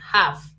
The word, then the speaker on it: have: cual se escribe has El otro es un poquito confuso pero como les digo con f pronúncialo con f have bien empecemos number one